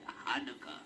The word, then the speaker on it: Hanukkah: How do you pronounce that word? Hanukkah.